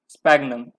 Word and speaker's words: Sphagnum: दूसरा हो गया स्पैग्नम, SPHAGNUM, स्पैग्नम, स्पैग्नम, स्पैग्नम ऐसे तो प्रोनाउंस करेंगे ना इसको, स्पैग्नम, ठीक है।